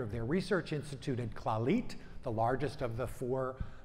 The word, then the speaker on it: Clalit: the health center in in Israel known as claw leet so for those of you don't know it